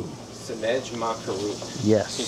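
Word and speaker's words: Sendej Maa Keru: Sinej Ma Karu. Sinej Ma Karu. Yes. Can you spell that for me? I'll spell it with vowels. S-E-N-D-E-J. That's Sinej. Ma is M-A-A. And Karu is K-E-R-U.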